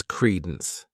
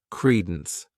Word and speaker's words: credence: The next noun is credence. This word has 2 syllables, and the stress is on that first syllable, credence. What it means is the belief as to the truth of something.